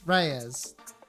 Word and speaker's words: Reyes: For the record, your full name is Farah Reyes. And how is that pronounced? Like how I just said it? Reyes.